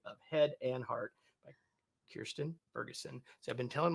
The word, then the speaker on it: Kirstin: yes, it's definitely not Christian, but it's also I just know, and I've been Kirsten.